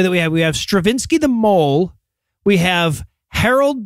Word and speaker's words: Strawinsky: and by the way if I if I seem like I'm pronouncing Stravinsky like like I'm forc the pronunciation it's spelled strawinsky and I'm trying not to say that so apologies for that so Stravinsky and his